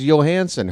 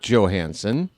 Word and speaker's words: Johansson: because it's a Scandinavian name and an ex Washington Capital, a winger by the name of Calli Johansson. I remember watching him as a kid. His name is Johansson.